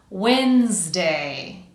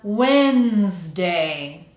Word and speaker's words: Wednesday: And as I'm sure you already know, this is one of those words where you really don't want to try to pronounce the word like how it's spelled because its spelling and pronunciation are quite different.